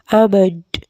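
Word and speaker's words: almond: बादाम को कहते हैं आमंड प्रोनाउंस कीजिए आमंड इसमें जो है एल एल साइलेंट है तो इसको हम पढ़ेंगे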